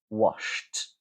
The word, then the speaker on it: washed: in an unvoiced consonant, you're going to pronounce the ed as t, right? We're keeping the lack of voicing. So, for example, wash, sh, there's no vibration. Past tense, we're going to say washed, washed.